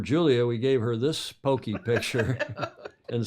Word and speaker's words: poke: night because that is pokey it looks like poke it's Hawaiian yeah and the spelling is p o k e but it's pronounced Pokey and they anglicize it